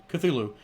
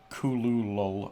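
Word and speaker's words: Cthulhu: is more like a kulul or something it's it it sounds like you're not really saying a word or maybe that like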